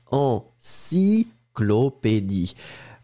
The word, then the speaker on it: encyclopédie: Souvenez-vous, Y prononcé comme un I. Encyclopédie.